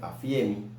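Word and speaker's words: ἀφίημι: La palabra dejar en griego significa, se escribe afiemi, así como se lee, afiemi, que significa perdonar, permitir, abandonar, consentir, dejar, despedir.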